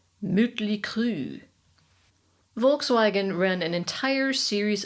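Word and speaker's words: Mötley Crüe: Looking at you, motley crew, correctly pronounced, you sound like a toy French car from the 40s. Motley crew.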